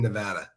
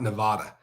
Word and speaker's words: Nevada: a long time I it's not Nevada and people in that state get pissed off about it and I promise you if you say it wrong in that state people are going to correct you it's just one of those things that everybody corrects people on in what's wrong with